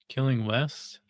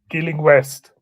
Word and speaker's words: Gilling West: Killing West. Gilling West. How do you spell it?